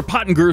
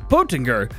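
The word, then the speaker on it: Pöttinger: for you today or pot and guru sorry po po tinger i gotta say it right just like because the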